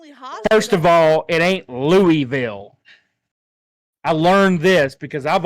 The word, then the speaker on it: Louisville: But tell me why is there Louisville's hot like Waverly is not the only hospital. First of all, it ain't Louisville.